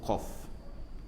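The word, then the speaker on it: قاف: Baik tuan-tuan dikasihi yang dirahmati Allah, cuba lihat huruf qaf. Ejaan Melayunya QAF lah, qaf, gitu ya. Kalau ejaan Arabnya qaf, alif, fa, ujung tu ada fa. Jadi qaf, tu dia panjang lah. Qaf, itu cara sebutannya.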